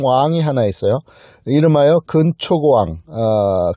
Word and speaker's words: 근초고왕: 이름하여 근초고왕. 근초고왕을 좀 더 강하게 발음하면 큰초고왕입니다. 큰초고왕으로 발음하는 것이 더 맞을 겁니다.